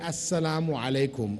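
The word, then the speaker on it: السلام عليكم: know note is that when we're greeting we say assalamu alaikum or salam alaikum not oppression on you you've changed the meaning so try to pronounce it correctly is different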